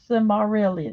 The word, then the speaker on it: Silmarillion: Silmarillion.